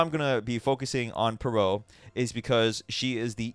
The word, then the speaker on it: Perrault: that's per oh okay I know it looks like parole it's actually perot i looked up the